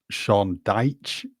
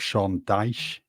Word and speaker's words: Dyche: Another one, Sean Deitch, not Sean Dyche.